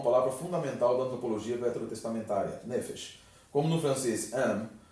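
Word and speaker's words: נפש: de pronúncia, a palavra, geralmente as palavras hebraicas elas são oxítonas, então seria correto nefesh. Mas por questões de fonética, essa palavra recebe a que a gente chama, o acento ele recua.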